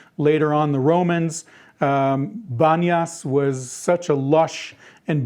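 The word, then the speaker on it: Banias: is the city of Banas now Banas is a derivative from Arabic um because in Arabic the letter P is not pronounced there's no P sound so panas the city of pan became Banas and what am I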